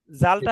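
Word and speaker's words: ذال: জাল জিব্বার, জাল হ্যাঁ, জিব্বার আগা সামনের উপরের 2 দাঁতের আগার সঙ্গে লাগাইয়া দেখেন মাঝখানের সঙ্গে, এই যে একটু হালকা কামড় দিয়ে জাল, একটু নরম করে পড়তে হবে, বলেন জাল।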